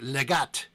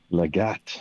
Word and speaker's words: Legate: Far to the east is a little town named Legat. Legat. It is spelled Legate.